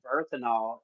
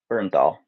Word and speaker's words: Bernthal: And I think I was saying if they would just slick John Berthanol, is that how you say his name? Bernthal.